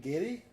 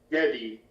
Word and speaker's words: Geddy: No, Brett Geddy Lee is not a woman. No. Who's not a In woman? fact, he just Geddy Lee, Giddy? the bassist, keyboardist, lead singer of Rush. What's the name? Giddy? Geddy.